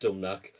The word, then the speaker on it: Dumnach: It's pronounced Dumnach. It's Hungarian. It's just spelled weird, yeah.